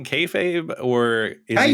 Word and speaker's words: kayfabe: It's mostly just names, so at least he says kayfabe right. Kafab. It's like, is he saying kayfabe or is he saying?